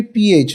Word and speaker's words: phat: to stop okay is the pronunciation has to be pH not F put H not fan because the F pronunciation is not there in Sanskrit P understood like this there